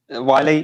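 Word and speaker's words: Wylye: It's the River Wiley. Is that how I pronounce it? Wiley, yeah.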